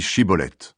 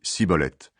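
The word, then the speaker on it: Chibboleth: lui disent et bien dis chibolet l'homme dit siibolette parce qu'il n'arrive pas à bien prononcer ce mot alors les hommes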